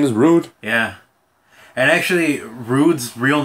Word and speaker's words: Roode: And his name is Rude. Yeah. And actually, Rude's real name is spelled R-O-O-D-E.